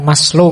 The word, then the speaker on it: Maslow: Jadi moralitas itu kalau di Maslow, Abraham Maslow, ini bukan Maslow membacanya. Maslow itu nama, jangan dibaca Mas itu ya Mas, Low itu rendah, jadi Mas yang kelas rendah. Enggak. Maslow itu lengkap.